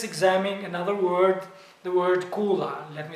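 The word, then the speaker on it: kulla: that now let's examine another word the word Kula let me spell it k-o-k-u-l-l-a Kula now Kula is a house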